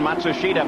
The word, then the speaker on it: Matsushita: Emerson Fittipaldi comes around Matsushita. By the way, that's the pronunciation that now Hero himself has asked all the announcers to use.